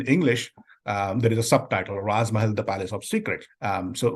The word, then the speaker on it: Raaz Mahal: So Raz Mahal, and of course, it rhymes with Taj Mahal.